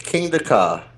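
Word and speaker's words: Kingda: say your name there your table name it's King DEA King DEA that is the tallest fastest roller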